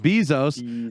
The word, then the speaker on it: Bezos: is almost i think most people pronounce it with the long e bezos uh he is almost